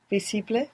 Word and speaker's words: visible: good you're doing here if you're not pronouncing that S as a zed like in English visible many people at home will find themselves uh doing this putting that Zed there from English and pronouncing visible we don't want that we want V and the V is like a soft B if you want more